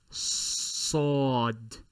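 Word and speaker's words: ص: and the premolars of your teeth while you are trying to enunciate an S. Then purse your lips a bit to help with the articulation. Sod. Sod.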